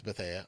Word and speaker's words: Bethea: Antonio Bethea. I think that's how you pronounce it. Yeah, it is Bethea.